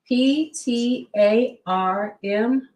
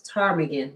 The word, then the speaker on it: ptarmigan: So PTARMIGAN. I think it's ptarmigan because you said the P is quiet.